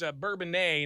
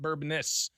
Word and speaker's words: Bourbonnais: DuPage County, and it's Bourbonnais, not Bourbonnais.